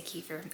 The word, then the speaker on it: kefir: Today's video is going to be all about milk kefir. Here in America we say kefir. I know it's technically pronounced kefir, but kefir, my children call it white kefir.